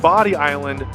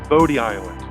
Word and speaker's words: Bodie Island: And another bonus tip here, it's pronounced Body Island, not Bodie Island.